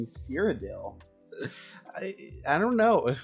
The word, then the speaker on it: Cyrodiil: fighting for cyrodell I saw so many people mispronounced cyrodiil earlier and I was like it's not that hard to uh say cyrodiil it's not that hard I mean it even